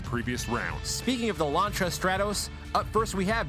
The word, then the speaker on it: Lancia: Ooh, Lancia. I didn't know he spoke French. Well, apparently that's how it's pronounced. You know, 3D, I'm just too American to make that ch sound without a C and an H.